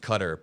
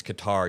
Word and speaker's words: Qatar: going, Adam, it's pronounced Qatar, please stop. And then when I pronounce it like that, people in chat go, Adam, it's Qatar, you're pissing me off. It can be pronounced both ways, depending on, there's no reason to.